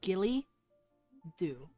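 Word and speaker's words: Gille Dubh: It's pronounced Gilly Do. Gilly. It's like a ghillie suit.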